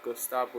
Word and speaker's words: Gustavo: That's actually the Japanese pronunciation for Gustav. So yeah, Gustavo.